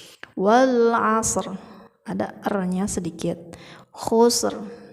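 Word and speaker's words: خسر: Khusr, ada r-nya sedikit.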